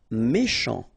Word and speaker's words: méchant: Méchant. Final T not pronounced. Then C-H, sh, chant, méchant.